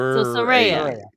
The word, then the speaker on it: Saraya: So Saraya.